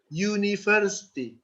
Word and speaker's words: university: Yeah, U is vowel, but it is pronounced as you use the letter Y. University.